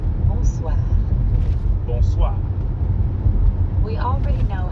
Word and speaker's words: bonsoir: Bonsoir.